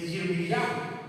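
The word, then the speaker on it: ירמיהו: Del profeta Jeremías, de Yirmiyah, es la pronunciación en hebreo.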